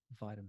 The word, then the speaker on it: vitamin: I would say vitamin vitamin and we're going vitamin so I'm changing the T to a D vitamin yeah yeah and